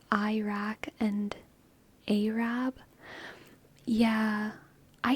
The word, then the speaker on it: Iraq: It's pronounced like an E, not an I. Like a short E.